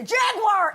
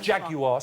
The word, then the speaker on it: Jaguar: How am I saying Jaguar, 3 syllables over here.